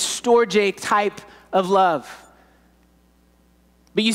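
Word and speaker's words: storge: find in the bible is this it's called storjay is how it's pronounced it's family affection family affection it's the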